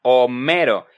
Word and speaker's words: Homero: Se pronuncia Homero, es un nombre real que existe, es el nombre de un famoso poeta griego, sin mencionar que la H en español es muda.